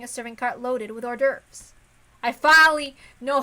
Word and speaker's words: hors d'oeuvres: or something or 12 I used to pronounce hors d'oeuvres I hors d'oeuvres like from Harvest Moon A Wonderful Life is Like horse stirves or something then what about Shannon